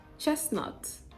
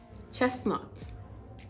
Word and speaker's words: chestnut: it is obvious to the eyes but it is silent mortgage mortgage chestnut chestnut chestnut chestnut sounds like the tea is pronounced